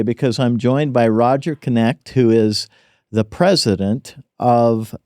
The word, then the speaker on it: Knecht: I'm really excited today because I'm joined by Roger Knecht, who is the president of Universal Accounting Center.